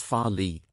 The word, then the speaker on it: Farleigh: farley this new station called farley pronounced as farley this station based by